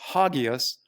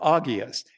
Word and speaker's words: hagios: But both in the New Testament, the Greek word for holy sometimes it's pronounced hagios or agios. It can have an H on it, but in this case, it's got an agios.